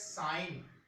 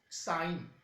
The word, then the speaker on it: sine: will call it as sine A. Let we are considering this angle, then it will call sine A. Its short name is SIN, but you will term as sine, not sin.